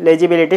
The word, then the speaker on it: legibility: L-E-G-I-B-I-L-I-T-Y, legibility. First, let's divide this word into syllables. So, lay, L-E-L-A, G-I-G, B-I-B, L-I-L-E, T-Y, T, legibility. This is similar to visibility.